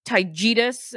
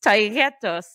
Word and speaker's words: Taos: the Taos mountains which he also mispronounces he says taus and I'm like oh my God I hate this it's tyus but it sure taus fine clearly I'm not fine over